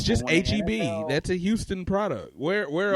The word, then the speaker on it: HEB: Like my cousin came down and called it Habit. I'm like, what the hell is Habit? That's what I called it when I moved here too. Anyway, it's called HEB. It's actually pronounced that.